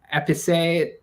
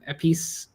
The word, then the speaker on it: Épice: Or I would also say I've been thinking of I don't know how you pronounce it well in French. Épicé by Miskeo. Épice.